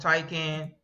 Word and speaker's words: Taycan: Do you think Xiaomi SU7, the Is that how Porsche you pronounce it? Taycan, that's how I pronounce it, the Xiaomi?